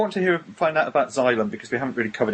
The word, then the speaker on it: Xylem: So I'll very quickly say, Norah runs, how do you pronounce the label? Is it Xylem?